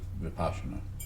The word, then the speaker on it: Vipassana: But it's usually not pronounced like Vipashyana. It's a Vipassana. That's how I was taught.